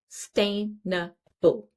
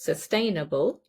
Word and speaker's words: sustainable: It's sustainable. Again, it's four syllables, sustainable. And where is the stress? In the second syllable, sustainable.